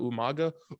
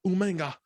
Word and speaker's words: Umaga: He pronounces people's name like instead of Umaga, Umanga.